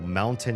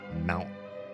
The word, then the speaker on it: mountain: Oh, mountain is pronounced mount. Can I say this right? Mountain. Mountain. I've heard people drop those kind of T's like kitten button. You don't see the T, right?